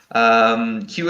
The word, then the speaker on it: queue: have the word queue queue is a very strange word in English because it has one letter that we pronounce and then for silent vowels yes so Q is